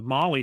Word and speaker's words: MOLLE: And so I got to digging on that, and the Molly system, it's spelled MOLLE, is what they use primarily.